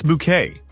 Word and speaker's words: Bouquet: It's bouquet, she would insist on screen, correcting anyone who dared pronounce her surname the common way.